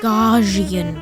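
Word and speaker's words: Gaussian: I'm going to go to filter then blur gajan blur that's how that's how you pronounce it and just raise it until it's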